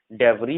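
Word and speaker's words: debris: आई के बाद अगर एस होता है तो एस साइलेंट होता है। जैसे यहाँ आइलैंड पढ़ेंगे, आइल पढ़ेंगे, यहाँ आइल पढ़ेंगे, इसे डेवरी पढ़ेंगे, इसे वाइकाउंट पढ़ेंगे, तो यहाँ भी एस साइलेंट है।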